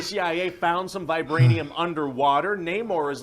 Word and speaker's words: Namor: threat oh it's freaking Neymar Namor no more how do you pronounce that you know everybody in the movie is going to say it differently I guess there's